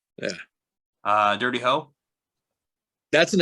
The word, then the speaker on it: Dirty Ho: No, it's Dirty Ho. It's exactly what it sounds like.